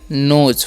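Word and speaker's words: knows: हम पढ़ेंगे हु और इसे पढ़ेंगे नोज हु नोज ठीक है यहां पर केस साइलेंट होता है हु नोज इसका मतलब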